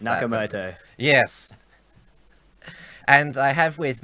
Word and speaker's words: Nakamoto: under the pseudonym as Satoshi nematode I knew I mispronounced Nakamoto yes and I have